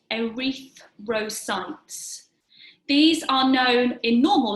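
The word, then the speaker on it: erythrocytes: through silence where I'm going to spell that e ry th r o c y te s arethe ro sites these are known in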